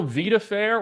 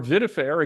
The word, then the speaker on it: Vidafair: pronounced two ways but it's just eight letters VI da like VA like life and then fair f AI r so that's on